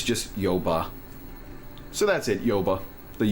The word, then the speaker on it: Yoba: How would you pronounce Yoba, your fictional little Pokemon region thingy? Like that. Yoba? Yoba. It's what is it? What's the word? Portmanteau? Well, it's taking the word Bayou and switching it around.